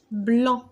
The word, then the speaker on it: blanc: blanc blanc هذه السي à la fin c'est une lettre muette.